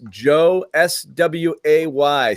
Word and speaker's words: Josue: Josue, it's Joe SWAY, Sway, correct? Yes, sir. Joe _Sway, phonetically.